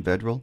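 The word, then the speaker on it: Vedral: the man under Center is that how you pronounce his last name vedal vedal correct okay looking at his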